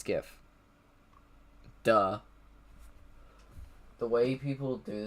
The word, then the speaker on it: GIF: How do you pronounce GIF? It's GIF.